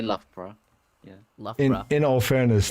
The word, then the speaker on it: Loughborough: Yeah, it's not Luga Baruga. Lao Bao How. All right, I'm already in hell. Yeah, the locals say Loughborough.